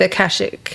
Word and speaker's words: Akashic: So, did I pronounce that right? Yeah, Akashic.